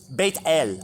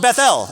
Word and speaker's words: Bethel: Beth L date bait bait bait bait L bait l you see that on the side of a